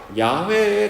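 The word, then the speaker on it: יהוה: 이렇게 읽는데, 이게 이제 발음상, 히브리어 발음, 로마자로 표현해서 이렇게 되었지만 히브리어 발음상으로는 야훼에 가깝습니다.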